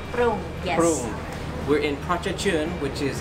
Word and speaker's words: Prung: Prung.